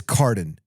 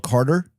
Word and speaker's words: Cardon: I tell you what, my name is as simple as it can be. It's Cardon. C A R D N. Six letters. It has been butchered every way for you could possibly imagine. I've been called Carter.